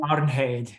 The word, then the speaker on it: Arnheid: But then, of course, he's holding Arnheid. Is that how you say her name? Arnheid, yeah.